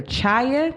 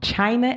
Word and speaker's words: China: case and my backup would have been either child excuse me I said her name wrong China and or Lauren McClane one of the two